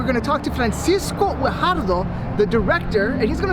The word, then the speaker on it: Guajardo: Guajardo. I pronounced that correctly, right?